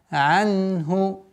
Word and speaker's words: عَنْهُ: Такое плавное произношение звука айн. Анху. Анху. Если при ускоренном произношении, если быстро произнести нун, она переходит в калькаля. Ана, ана, анаху. Нужно медленно, полноценно произносить все звуки, и тем более в данном случае нун, анху.